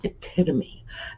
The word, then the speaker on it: epitome: But yes, epitome, and it's the straight up Greek pronunciation.